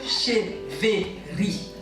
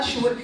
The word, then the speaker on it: Cheweri: Je m'appelle Cheveri. Ça s'écrit avec W, mais ça se prononce avec V. Donc dites Cheveri. Très bien. Alors c'est pas Cheweri, c'est pas Chéri, c'est pas Cheweri.